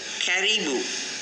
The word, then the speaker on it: caribou: ஓகேயா, இப்போ நாங்கள் பாருங்கள், இந்த CARIBOU இதை நாங்கள் எப்படி ப்ரொனவுன்ஸ் பண்ணணும்னு சொன்னால் கெரிபு. பாருங்கள், கெரிபு.